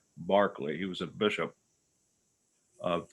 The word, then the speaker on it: Berkeley: a lot here barkley it looks like it says berkeley but it's pronounced barkley he was a bishop